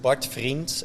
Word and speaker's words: Vriends: So Bart Vriends, am I saying that correctly? Hit me up. It's a bit too much of an Aussie way to pronounce Do it. It's just Bart Vriends, actually.